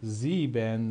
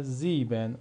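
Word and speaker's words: sieben: حرف ای و ا صدای ای میده. صدای ای میده دوستان. مثل چی؟ مثل مثل مثل زیبن. زیبن. زیبن. مثل زیبن. ما دیگه نمی‌خونیم زیبن زیبن این دو حرف ترکیبی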